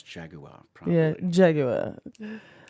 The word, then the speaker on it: Jaguar: No, but I love the fact that you actually pronounce Jaguar properly. Yeah, Jaguar.